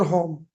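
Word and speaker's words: whom: और इसको हुम भी पढ़ते हैं बहुत सारे लोग। हुूम। ठीक है? यानी डब्ल्यू को साइलेंट करके।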